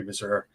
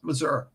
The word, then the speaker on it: Mazur: Right up with Ray Mazur, Ray Masher. In case he's ninja listening, I get yelled at. I didn't get yelled at, but I don't pronounce it correctly. I'm sorry. It's Mazur. It's Mazur.